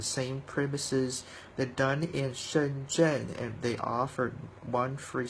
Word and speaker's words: Shenzhen: They're done in Shenzhen, and they offered one free sample. Shenzhen, that's how they pronounce it in Chinese.